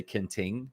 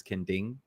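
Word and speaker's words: Kenting: to go it's called ken ding okay but it's spelled k-e-n-t-i-n-g kanting which i still know foreigners that say ken ting but it's kending so the t is supposed to be a d sound so i i do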